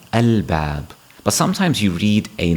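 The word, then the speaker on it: الباب: Ba is also a moon letter. So when you see the word alif lam ba alif ba, you would pronounce that al-bab.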